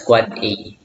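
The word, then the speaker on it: AAAA: the 4A unend devices IPv6 addresses pronounced as quad A.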